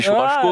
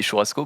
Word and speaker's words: churrasco: Toi, au Portugal, on dit churrasco, Ouais. mais nous, on dit churrasco, parce qu'on sait prononcer les S.